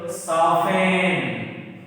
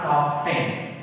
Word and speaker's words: soften: So, actual pronunciation of the word is soften. Actual pronunciation of the word is soften. It's not soften. So that's why T is the answer. T is which is not pronounced here.